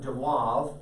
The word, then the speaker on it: de Moivre: to your note named after the mathematician abraham dewove i can't write a cursive article in my life de mois theorem it's spelled de moivre's but d e m d-e-m-o-i-v-r-e-s